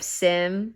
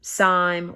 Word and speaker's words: Syme: adopt the personality of Sim, Syme, or Parsons. You can call that man Sim or Syme.